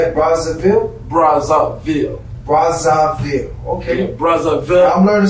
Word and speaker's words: Brazzaville: Brazzaville.